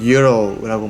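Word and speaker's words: gyro: 룸메이트가 또 다른 메뉴도 맛있다고 해가지고 우리식으로 읽으면 지로라고 읽고 미국 사람들은 유로라고 말하던데 되게 맛있는 그리스식 샌드위치, 쌈 요리 이런 느낌이었어요.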